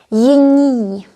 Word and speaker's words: jiní: N can be followed by I or Y, it's okay. But the pronunciation changes. We say jiní.